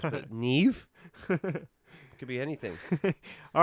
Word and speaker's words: Niamh: Do you want me to tell you? Yes. Neve. Neve. There's no V. Niamh. Neve. Oh, it's an H.